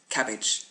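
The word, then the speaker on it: CABG: last on this list cabbage c-a-b-g coronary artery bypass graft it's obviously not really a cabbage it actually just looks like it's spelled that way it is in fact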